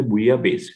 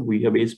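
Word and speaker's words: bouillabaisse: अब इसका correct answer है वो है बुया बेस। इसकी स्पेलिंग आप देख लीजिए, प्रोनाउंसिएशन थोड़ा अलग है इसका, बुया बेस बोलते हैं।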